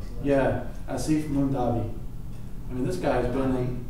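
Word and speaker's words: Aasif Mandvi: in background or, you know, how do you pronounce that? Asif Mundavi. Mandavi. Yeah, Asif Mundavi.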